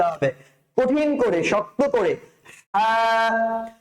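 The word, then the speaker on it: ه: তারপরে হরফটা হচ্ছে হ। হটা উচ্চারণ করার জন্য আপনার সেই কণ্ঠনালীতেই ব্যবহার করতে হবে, তবে কণ্ঠনালীর শেষাংশের দিকে যেতে হবে। কণ্ঠনালীর শেষের অংশ থেকে আপনি উচ্চারণ করবেন হ। হ। উচ্চারণটা যত ভেতর থেকে নিয়ে আসতে পারেন আপনি, আপনার এই হ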